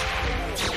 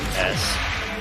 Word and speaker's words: Kronos: There are different ways to spell and pronounce Kronos. I personally go with this one that's right here. Cronos. You can use a K instead of a C, or it's Cronos, Kronos.